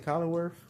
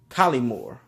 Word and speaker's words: Collymore: Collinway? Collymore. That's how you say it.